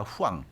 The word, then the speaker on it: Huang: 나오고 있는데 젠슨 황입니다 한국 언론들은 황이라고 해서 이게 또 한국인처럼 보이는데 사실 황은 아니죠 huang입니다 후왕 후왕이라고 발음해야 되는데 대만 분이죠 그 예순살